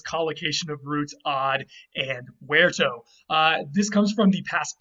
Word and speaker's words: verto: But then the Latin root verto, remember V's are pronounced as W's in Latin, but now we pronounce them as V's, of course.